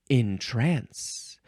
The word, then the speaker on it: entrance: put into a trance now this one is pronounced differently and I miss that because it is pronounced intrance ooh are you being